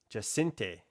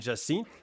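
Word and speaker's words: Jacinthe: Okay, my brother was telling me how to say her name. And it's like Jacinte or Jacinte. Jacinte. So I've been saying Jacinth, which is fairly close. But like, I guess in French, it would be Jacinte or just Jacinte.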